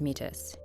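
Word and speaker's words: Métis: when the war did Frank is metis which it should be noted he pronounces as mitus he was a private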